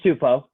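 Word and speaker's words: Tupou: uh tupo back or how do you say his name yeah it's tupo josh tupo that's not bad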